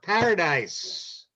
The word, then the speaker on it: Paradis: So welcome, Paradise. By the way, there's no E on the end of my last name. It's Paradis. No, Oh, DIS, not E? no E. It's the old French pronunciation.